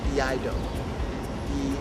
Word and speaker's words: iaido: The traditional sword practice is called iaido. Iaido. It's spelled I-A-I-D-O.